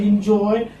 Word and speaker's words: enjoy: How do you write enjoy?